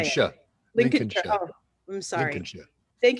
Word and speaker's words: Lincolnshire: Lincolnshire.